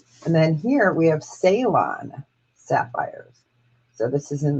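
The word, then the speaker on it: Ceylon: So there's the salon. And that's spelled with a C. C E Y L O N.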